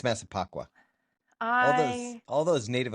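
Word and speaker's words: Massapequa: Am I That would be That would be Masipacqua. Masa Never mind. I I just mispronounced it as well. I think it's Masipacqua.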